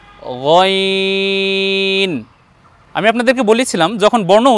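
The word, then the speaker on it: غين: দেখুন প্রথম বর্ণের উচ্চারণ আইন, দ্বিতীয় বর্ণের উচ্চারণ গইন।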